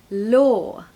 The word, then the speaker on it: law: this word okay so just add an L we need quite a bright L okay not a dark L we have to use our tongue to make that L law law the law in